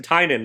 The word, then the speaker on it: Tynion: But I listened to an interview where he said how to pronounce his name. So it's Tynion.